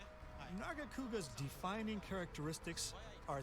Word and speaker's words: Nargacuga: Nargakura? So, I'd like to Yeah! that monster now. Nargacuga. I kept pronouncing the name wrong, but I don't give a fuck.